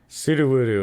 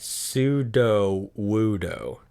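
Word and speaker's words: Sudowoodo: because he's wood yeah sududu is what i've always said and that's probably i just do the oo sound all the way through but it is in fact sudo wudo pseudo wudo hmm some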